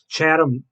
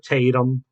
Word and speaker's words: Tatum: Um, yeah, that's Jenna Dewan, who was married to Chatham. Okay, I can't pronounce his name, but I think you know who I'm getting at. Mr. Tatum, Channing Tatum.